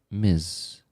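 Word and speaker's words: Ms.: MS is pronounced miz m like misty. Misty uh like Miss and Mrs.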